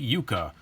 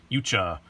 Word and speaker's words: Yucha: review for you today we have the we Yuka you cha however you prefer to say it I say